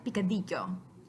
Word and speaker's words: picadillo: We've got two changes here. The first, the letter C in this case is a K, so we're using the K symbol on the right. The double L letter on the left is making a Y sound, and the symbol that's